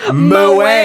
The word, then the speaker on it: Mo: It's pronounced Moe.